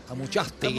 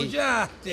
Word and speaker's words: Amuchastegui: Allá sí pronuncian el Amuchastegui. Amuchastegui.